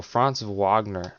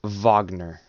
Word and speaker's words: Franz Wagner: get moved down so franz wagner wagner that that that's how you pronounce it i get it wrong every time but whenever i was at the magic game last month it's wagner so um he needs